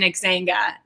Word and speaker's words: Xanga: Because to me, it felt like an Xanga. Am I even saying that right? Xanga? Yes, Xanga is what it was. Right, because that's how you pronounce things.